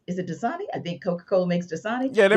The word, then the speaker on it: Coca-Cola: grandmother god wrestled herself she loved herself a coke cola and i didn't that that wasn't a that wasn't a mispronunciation like that's exactly how she said it and that's how i pronounced it too as well uh she had